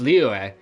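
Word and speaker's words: Liyue: because there is a there is a silent letter that you have to pronounce that isn't in the writing and he pronounces it he goes Leo I don't I say leeway because it's just easier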